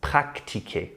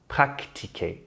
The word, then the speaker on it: pratiquer: It's pratiquer. Practiquer. In English, it's to practice. And practicar in Spanish, but in French it's pratiquer, pratiquer. There's no C before the T.